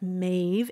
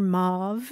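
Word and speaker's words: Maeve: again and again that it's mave m AE V and it rhymes with wave but uh Grandma accidentally calls her mauve and you're constantly trying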